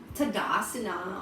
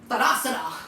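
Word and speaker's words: ताडासन: Like, for example, like I used to say Tadasana or Tadasana. So it's kind of slang, but it's like I came from Western, and that's how they say it. Because if an American will teach you, like, this is the Tadasana, Padasana. But here it's like, you don't say that. You're like, Tadasana.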